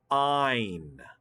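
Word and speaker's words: -yne: And we abbreviate a triple bond by using the letters Y-N-E or ine. Ine. The Y is pronounced like a long I.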